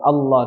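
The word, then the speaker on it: الله: Ketika ingin disambung ke ayat 2, maka dihidupkannya dengan nun yang berharokat kasroh. Nah, ketika dihidupkannya seperti ini, maka tidak dibaca tebal. Ahadunillah. Tapi dibacanya tipis, la. Karena apa? Karena didahului dengan kasroh sebelumnya. Seperti itu. Tapi kalau berhenti di ayat 1, maka dia dibaca tebal dan dihidupkan hamzah wasalnya.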